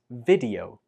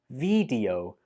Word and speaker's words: video: A common mistake is to pronounce this like video with a long E sound on the first syllable. But that's not correct. It's much better to use the short E sound on the first syllable like this.